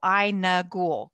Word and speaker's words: Aynagul: her name is is i n ghoul like she told me I and like School ghoul so i n ghoul correct yes I'm glad